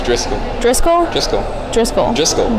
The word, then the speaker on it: Driscoll: It's Driscoll.